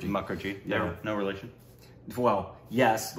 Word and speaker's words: Mukherjee: m there's two pronunciations for it sometimes people pronounce mcer but the predominant and I believe hers as well as like and's is muckery muckery no relation well yes like seagull there's there's